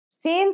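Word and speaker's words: sīn: let's start with sinen sinen sounds just like the English s it's very easy to pronounce let's see how it's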